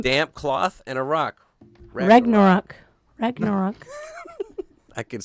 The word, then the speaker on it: Ragnarok: a second all right rang no rock is that how you say it yeah basically right rang no rock rock rag ragna rock ragnarok there you go ragnarok see i was